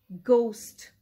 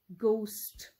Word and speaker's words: ghost: We'll start with the hard G. Ghost. Ghost.